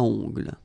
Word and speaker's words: ongles: Okay, O-N, remember, nasal, ongles.